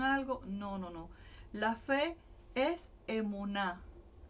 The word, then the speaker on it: emuná: La palabra hebrea emuná. Aquí les voy a poner para que vean cómo se escribe. Emuná.